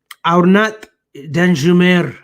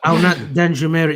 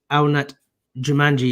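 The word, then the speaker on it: Arnaut Danjuma: Actually, I'm not going to flag them now, but Aurnat Danjumer is the name. That's how you pronounce it. No. Aurnat Danjumer is the name. I actually pronounced it as Aurnat Jumanji yesterday.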